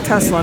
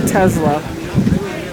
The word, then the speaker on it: Tesla: That's how you pronounce his name, Tesla, not Tesla.